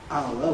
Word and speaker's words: hour: they're a unit, then you rather reduce the articulation, you compress the articulation, hour, which some people call a triphthong, but it's got 3 vowel letters needed to transcribe it. You compress it to a single syllable.